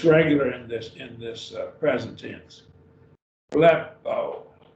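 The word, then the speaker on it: βλέπω: Blepo, two syllables. You got two vowels, epsilon and omega. Blepo.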